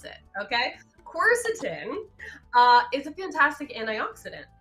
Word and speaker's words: quercetin: i pronounce it is quercetin course is him got it you're just putting the emphasis on a different syllable stuff of course the